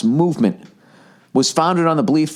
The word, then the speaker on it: MVMT: MVMT watches pronounce movement.